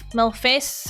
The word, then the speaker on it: malfeasance: Like feces? No, feces has no A in it.